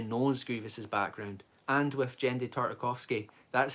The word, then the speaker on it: Genndy Tartakovsky: And with Genndy Tartakovsky, that's how you pronounce it, pause, by the way, Genndy Tartakovsky,